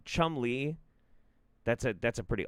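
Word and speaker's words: Cholmondeley: place name schol schend schmy pronounced Chum Le off how does that pronounce Chum Le also Chumley that's a that's a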